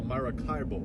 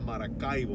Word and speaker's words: Maracaibo: I was going to say it American style, Maracaibo. Yeah. But I said Maracaibo, which is the correct pronunciation.